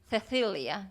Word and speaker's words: Cecilia: Y también la otra diferencia es que en España la letra C, Sí. ¿cierto? Por ejemplo, la palabra, el nombre Cecilia, ellos dicen Cecilia, ¿cierto? Cecilia. Gracias. Sí, gracias. Es como si fuera la TH de Sí. think Sí. en inglés, ¿no?